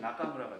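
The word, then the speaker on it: 中村: 가운데 중자에다가 마을 촌자를 썼어. 이거 어떻게 읽어요? 그냥 나눠서 읽으면 돼요. 얘는 뭐였지? 타나카에서 나카였어. 나카겠네. 얘는 야마무라의 무라였어. 그러면 이 사람 성씨는 나카무라가 돼요. 나카무라. 나카무라라고 읽으면 돼요.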